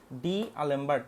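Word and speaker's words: d'Alembert: অভিশ্রৃত হবে ঠিক আছে ডি আলেম্ট আমি আমরা এভাবে উচ্চারণ করতাম ডি আলেমবার্ট ডি এর উপরে এরকম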